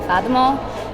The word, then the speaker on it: Fatima: I prefer people to call me Fatima. That's the Somali way of saying my name.